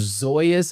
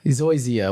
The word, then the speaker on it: Zoysia: So I am a fan of Zoya's. I think I'm saying it right. Zoya's grass or Zoya. Zoysia.